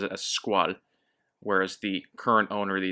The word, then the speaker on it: Squale: As far as pronunciation goes, I'll probably say Squale or Squale, English pronunciation, Squale, just because that's the French pronunciation for the word and it's a French word.